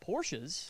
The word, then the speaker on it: Porsche: around no I got Porsches yeah it's a German two syllable word two syllable word okay